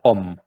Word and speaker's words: ohm: Se pronuncia ohm, O-H-M.